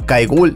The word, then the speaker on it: Kewal: Su primer nombre, pronunciado Kaigul, es quizás profético.